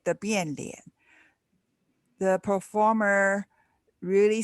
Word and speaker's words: Bian Lian: You also have face changing known as Bin Liang. How do you pronounce that, Kelly? Bian Lian. Yes. Okay. And Bian Lian.